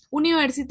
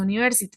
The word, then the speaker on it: university: University en inglés no se pronuncia university, sino university, como una Y-U, como una Y-U, sí, Y-U-I, university. Entonces, aunque hayan dos vocales